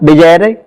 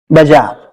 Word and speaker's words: bizarre: इस वर्ड का प्रोनाउंसिएशन क्या करेंगे आप? बिजायर या बिजायर? नो, इसका राइट प्रोनाउंसिएशन है बाजार। थोड़ा आपको अजीब लगेगा लेकिन इसका एग्जैक्ट प्रोनाउंसिएशन यही है, बाजार इसका प्रोनाउंसिएशन है और इसका हिंदी मीनिंग है विचित्र।